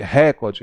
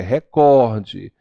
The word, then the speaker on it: recorde: uma boa pronúncia né E nada de pudico porque é pudico nada de recorde é recorde Então precisamos pronunciar bem